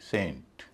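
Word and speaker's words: saint: जैसे एस इ एन टी सेंट और एस ए आई एन टी सेंट एस इ एन टी सेंट एस ए आई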